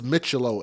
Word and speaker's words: Micciolo: i o l o I think it's mitello if I'm wrong about that y'all correct me in the chat I will try to